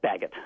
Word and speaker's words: Baggett: Bart Baggett, you say Baggett, right? Yes, Baggett.